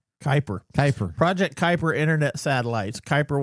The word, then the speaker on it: Kuiper: How do you pronounce it? Is it Kuiper? Kuiper.